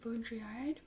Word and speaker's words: Baudrillard: Okay, our look this up on how to pronounce it before you got here so I wouldn't embarrass myself. We have Jean Baudrillard, and it's just one of his selected writings.